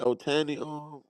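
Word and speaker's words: Ohtani: What ain't that how you pronounce his name? Otani, Chico.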